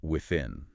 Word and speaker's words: within: That word within. It has the sound. You have to stick your tongue out a little bit with.